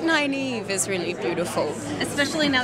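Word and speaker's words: Nynaeve: popular i feel like naive i feel like nine eve is really beautiful especially now that people will know how to pronounce it yeah or unless anyone wants to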